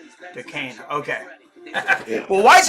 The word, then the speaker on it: Duquesne: It's pronounced Duquesne. Duquesne.